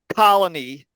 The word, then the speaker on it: colony: consider a couple of English words Colony that first vowel call is where the stress main stress is on that word colony if we take